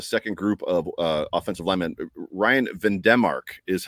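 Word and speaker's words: Van Demark: And then for the second group of offensive linemen, Ryan Vandemark is how Josh has been pronouncing his name. So I don't think we're allowed to say Vandemark anymore.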